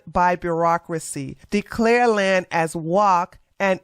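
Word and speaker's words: waqf: By the way, I had to go to Google to see how you pronounce this, and that's how it is pronounced, walk.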